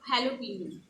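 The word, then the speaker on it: jalapeño: considered as j however since it's a spanish word you pronounce j a as h so it's halloween right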